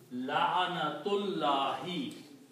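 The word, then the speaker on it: لعنة الله: So when you pronounce, now you can connect these two. La'anatullahi. Okay? You will not pronounce this alif here. La'anatullahi.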